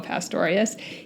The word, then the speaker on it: Pastorius: these bass players my first influence was Jaco Pastorius I've also heard it pronounced Jaco Pastorius he was a legendary bass player he came